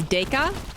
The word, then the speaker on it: Deca: It's Deca. Thank you. Legend. Being a legend, coming in and finally correcting my pronunciation.